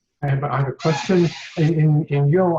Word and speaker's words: yo: In yo, I've heard it pronounced Joe instead of yo.